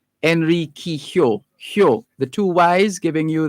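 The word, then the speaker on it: Enriquillo: that's why it's pronounced enrique hyo enrique hyo the two y's giving you that y's the two l's i beg your pardon giving you that y sound hyo henry kihyou so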